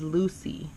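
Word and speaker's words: Lucea: how to say this the way that you say this city is Lucy Lu CEA so Lucy it's a little town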